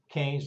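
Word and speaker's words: Keynes: name of John mayard KES now you'll notice it's spelled ke y NES but it's pronounced canes like you would say candy cane or sugar cane or something of that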